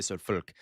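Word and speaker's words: Volk: So, folk. That's why it's fagen. Okay. Folks vagen and then so this okay real fast in German like I said V's are pronounced like F and W's are pronounced like V's.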